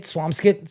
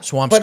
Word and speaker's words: Swampscott: caught myself say it swamskit. Swam." I say it both ways, too. Yeah. Swam Scott. But I feel like Swam Scott is more natural.